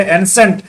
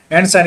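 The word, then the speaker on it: ancient: उसी तरह से एंसेंट, एंसेंट यहाँ पर भी क्या हो रहा है, श ही उच्चारण हो रहा।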